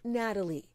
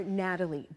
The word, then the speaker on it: Gnatalie: 75-foot, long-necked green dinosaur Gnatalie before it's open to the public. Gnatalie spelled with a G because of the stinging gnats that pestered excavators. From sunrise to sundown, these little biting gnats would attack us.